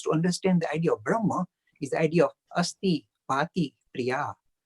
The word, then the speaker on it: Brahma: The ancient kind of sages said, the underpinning to this reality we define as Brahman, or Brahma is the right pronunciation.